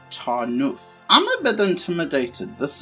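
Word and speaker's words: Tarnów: of tor now and i'm actually believe that it's pronounced tarnoof i'm a bit intimidated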